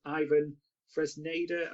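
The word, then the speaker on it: Iván Fresneda: I think it's pronounced Ivan Fresneda of Valladolid.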